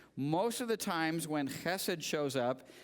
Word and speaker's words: חסד: It's a guttural, so do not say hesed. Okay? If you don't spit on the person in front of you, you've said it wrong. So it is chesed.